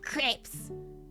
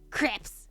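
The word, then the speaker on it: crêpes: That's the American way. Crepes. It's not crepes, it's crepes. I know for a fact that it is crepes of some kind.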